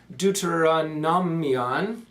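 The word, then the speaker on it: Δευτερονόμιον: The name Mishneh Torah is translated into Greek by Philo in the Septuagint, where it's pronounced Deuteronomion. That's hard to pronounce.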